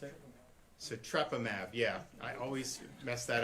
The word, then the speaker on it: sotrovimab: How do you pronounce it? Sotrovimab.